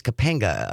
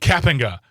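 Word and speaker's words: Kapenga: from Monominee and State Senator Chris Capinga, a Republican from Delfield. Cappinga. Cappinga. Sorry. Sorry. I've been saying that name wrong for months.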